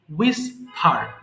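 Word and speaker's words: whisper: করা Warne Warne Warne উইস্পার ফিসফিস করা এখানে ডাব্লিউ এর পরে এইচ এর উচ্চারণ প্রয়োজন নেই সো এখানে আপনাকে বলতে হবে না উইসপার এটা হবে সিম্পলি উইসফার ফিসফিস করা উইসফার এরপরে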